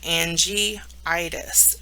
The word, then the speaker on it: angiitis: together instead of just dropping another letter so angiitis is how it would be pronounced terms related to benign neoplasms remember benign